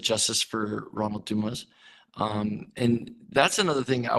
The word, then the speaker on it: Dumas: So sometimes I say Dumas, sometimes I say Dumas. So Ronnie's dad says Dumas, and I do believe that is how he pronounces it.